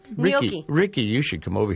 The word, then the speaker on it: gnocchi: Participants will learn sweet and savory recipes, including vegetarian squash shepherd's pie, blue Hubbard squash noshi, and more. Wait, Gnocchi.